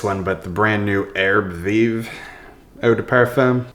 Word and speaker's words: Herbes Vives: but the brand new Arab viiv Oda perfum it's French right like living herbs you don't say the last letter Arab viiv I don't know been